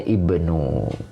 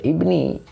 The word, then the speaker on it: ibnu: Nah, ini bacanya ibnu, ya. Ini sebetulnya ada alif karena dibacanya dilanjut, jadi alifnya tidak ada. Pak Teguh, terima kasih. Nah, ibnu ini badal, makanya dibaca rofa. Badal mengikuti mubdal minhunya, maka dibaca ibnu, ya. Tidak boleh ibni, tidak boleh jadi idofah,